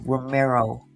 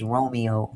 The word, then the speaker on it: Romero: So, like I said, Shadija Romero, I keep pronouncing her name is Romeo. She's definitely not Romeo.